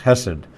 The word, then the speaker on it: Hesed: spell it in Hebrew it's got the the sound that that English speakers don't use you know it's the hot it's the guttural huh ch sounds Hesed but in the book